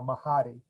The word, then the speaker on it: Mahdi: is because that's why I have that weird pronunciation of my name right now, Mahdi.